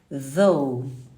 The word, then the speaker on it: though: Só que eu não vou falar de, porque esse também é o som do TH da língua inglesa, que você vai fazer como se fosse um Z. Though.